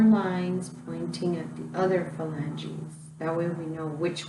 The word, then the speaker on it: phalanges: They're called your phalanges. And phalanges are spelled kind of funny because it's spelled with a PH, which makes that F sound.